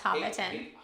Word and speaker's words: Hobbiton: Yeah, you know, we got this little place called Hobbiton, I think is how it's pronounced. Yes, Hobbiton.